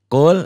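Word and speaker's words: قُلْ: Qul. Qul ya ayyuhal kafirun. Qul, nah ini idhar lamati.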